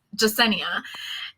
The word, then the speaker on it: Yesenia: out that spelling because it's spelled with a y and a lot of people don't realize that in the hispanic culture y is a j sound um and then it's